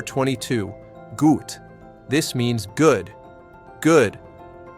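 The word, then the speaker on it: gut: Good. G. The u sound is important. Say ooh. Then round your lips more.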